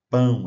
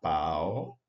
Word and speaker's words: pão: falar pau e capitã a gente teria que falar capitã mas a presença do c na escrita indica que esse som é nazal OK então é mãe pão e capitã né não Mai não pau não capt ok o